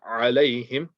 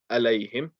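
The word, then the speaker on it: عَلَيْهِمْ: Here the ayn, make sure you're reading alayhim and not alayhim. Pronounce the ayn nice and clearly.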